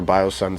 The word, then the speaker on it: BioSon: bios and music or biosun seven so yeah man that's how you can find it and my name is pronounced bio sun we're actually getting ready